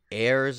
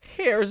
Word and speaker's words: Heirs: figure it out um Heirs of the beast but if you say it like it's spelled it's hairs of the Beast get it I love